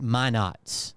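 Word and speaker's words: Minot: you've already heard about it but it's apparently pronounced my Nots North Dakota and there's a military base there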